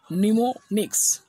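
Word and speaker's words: mnemonics: বানানটা হবে MNEMONIC। উচ্চারণটা কী হবে? নিমোনিক্স।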